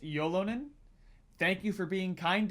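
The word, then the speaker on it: Ylönen: First one I'm seeing here is Yolonen, is pronounced Yolonen.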